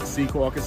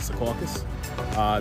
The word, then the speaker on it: Secaucus: spelling of it flash up locally it is pronounced Secaucus or not Secaucus that is something that I hear of Secaucus